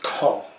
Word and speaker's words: Cahors: Cahors, as they say, we might say Cahors, because that's what it looks like. But they kind of, you know, it's French, so it's Cahors. I believe that's how they say it.